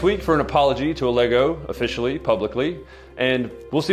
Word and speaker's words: Allego: It's Allego, it's pronounced Allego, but it's not can you Dennis, fix the graphic.